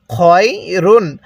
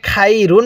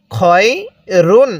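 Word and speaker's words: خَيْرٌ: এরপরে খয়া জবর খয়, র দুই পেশ রুন, খয় রুন কিভাবে পড়ব? খয় রুন। আমরা অনেকেই এই উচ্চারণগুলোতে ভুল করি। আমরা এখানে খাই রুন পড়ি, খয়া জবর খাই পড়ি।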